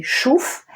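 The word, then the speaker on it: שוף: alors on a Chouf vous voyez le point ici là de ce côté donc ça se dit Chouf et Genèse 315 et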